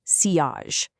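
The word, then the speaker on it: sillage: Next is silage. And yep, it's pronounced seage. It's a French word for that beautiful scent trail you leave behind when you walk past someone.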